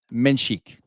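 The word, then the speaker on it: Menšík: they were talking about they said Yakib Menchik. Yeah, I think it is a chick. So, we'll we'll I'll do better myself at pronouncing. No, I don't think you were wrong. I wasn't correcting you. I'm just trying to correct ourselves so we know because I've been saying Mensick the whole time, too.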